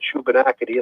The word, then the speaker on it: Shubenacadie: I can't even begin to pronounce it. SHUBENACADIE.